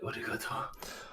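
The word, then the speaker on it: ありがとう: You gotta say it like arigato.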